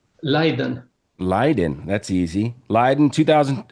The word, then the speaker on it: Leiden: Leiden.